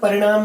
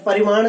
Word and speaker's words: परिणाम: आप यहाँ परिणाम ही पढ़ेंगे, गलती से परिमाण शब्द का उच्चारण बीच में हो गया है, इस चीज को ध्यान में रखेंगे।